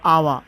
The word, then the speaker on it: hour: H is silent for hour, H.